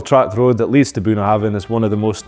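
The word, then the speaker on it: Bunnahabhain: buah haben but it's actually buah Haven the B and H together actually make a v sound this Isa distiller's name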